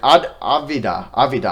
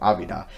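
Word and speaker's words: Avdija: D huh okay or avi de la vida I think that's actually how you pronounce his name Evita but yeah they take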